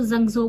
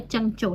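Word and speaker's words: 郑州: इसका नाम है चंचोल हम पाकिस्तान में थे तब हम इसको जंजो बोलते थे लेकिन एस बेसिक जो इसकी प्रोनाउंस है वो है चंग चो ठीक है तो चंचिया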